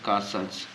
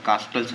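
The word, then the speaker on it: castles: कासल्स।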